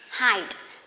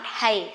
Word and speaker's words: height: Now, remember, at the end of this video, you have to remember this is height, not hay, okay? Height.